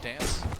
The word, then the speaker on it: dnce: the kill onto dance dnce we're told is pronounced dance yeah but if he